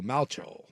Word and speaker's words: Malchow: They're saying it's pronounced like the replacement's quarterback Shane Falco, so Malchow.